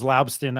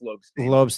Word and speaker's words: Lobstein: him the ball, and I should know better how to pronounce this guy's name, but James Laubstin, I said it right there, right? Or did I not? Lobstein. Man, I've just been butchering everybody's name. I've been back and forth. I've been mispronouncing it, Lobstein, but yeah, it's Lobstein. James Lobstein, and he played